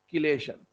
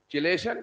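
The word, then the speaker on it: chelation: किलेशन, एच is silent, chemistry, chemistry, चिलेशन, किलेशन। Market में चिलेशन चलता है, ठीक है, आप किलेशन है इसका प्रोनाउंसिएशन करें।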